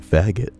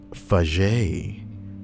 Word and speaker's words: Faget: You mean faggot. Does not use better judgment and uses that slur as a last name. It's pronounced Faget, ass man.